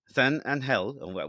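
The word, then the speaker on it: San Ángel: town of uh of San anel how's it pronounced s anel s Andel wow look at you with the very official Hispanic Mexican you make a weird H like sound in Spanish and the three children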